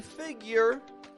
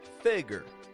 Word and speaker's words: figure: and as I've said it can be figure with a Y year or it can be figure figure theable stress contrast